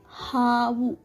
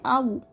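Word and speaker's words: ಹಾವು: Havu. Havu means snake. Some people will replace this ha and they'll say avu. Avu. There is no word called avu in Kannada.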